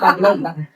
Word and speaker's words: baglog: Nah, jadilah sebuah media tumbuh jamur yang biasa kita beri nama bag log. Apa? Bag log. BAGLOG. BAGLOG. Atau bacanya backlog. Jangan salah baca ya.